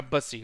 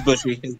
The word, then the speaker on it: Bushi: Or Bussy, or whatever the fuck they're called. It's Bushy. It's Bushy. You said it right.